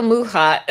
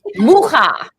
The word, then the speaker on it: Mucha: Mucha. People call him Mucha, and it's Also in my pronounced wrong.